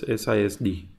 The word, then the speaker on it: SISD: going with multiple we will go with okay sis D or F so this is normally called theta doll it is normally pronounced as as sis D so we will consider instruction stream first then